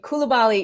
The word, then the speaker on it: Coulibaly: Bilal Coulibaly.